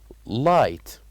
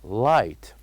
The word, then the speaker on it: light: knock knock and also the word light light so here we wrote G and H without as we said without pronouncing them so the word will be light light and here we